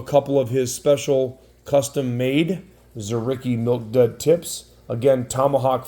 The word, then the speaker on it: Dzuricky: is spelled DZ by the way but it's pronounced zarii so it's R A zicky 2024 we've got